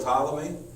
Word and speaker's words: Ptolemy: each of the colonies spelled with a P general Ptolemy and his successors the